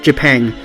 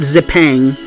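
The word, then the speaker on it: Zipang: says Japan and Japan even though it's written with a Z it's pronounced jipang not zip Aang don't ever let me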